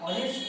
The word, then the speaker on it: honest: Okay, so an hour, honest man, here h is also silent, so an honest man, the proper pronunciation is honest, not honest.